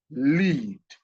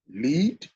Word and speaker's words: lead: Think about the word lead, which can be pronounced as lead or lead.